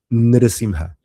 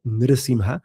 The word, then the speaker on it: Narasimha: pelear y a matar a Hiranyakashipu, se la pronuncia Narasimha, Narasimha. Pero no les quiero hacer el spoiler, pero cuando se pasa toda esa ira y rabia y enoja que sentía Narasimha, ahí sí se lo llama Narasimha.